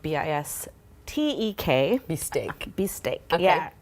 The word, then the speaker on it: Bistek: We are making a dish called Bistek, but it's spelled B-I-S-T-E-K.